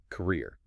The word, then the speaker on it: career: The stress shifts entirely to the second syllable, career. You stretch that long just like you do in sleep.